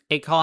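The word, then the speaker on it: Acol: A call has a short A, like a call.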